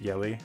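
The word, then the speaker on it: Jelle: like it's pronounced jelly is j-e-l-l-e but it's pronounced yelly i think i've heard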